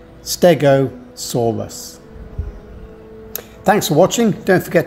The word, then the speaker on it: stegosaurus: where it was discovered you say the name stegosaurus with four syllables like this stegosaurus thanks for watching don't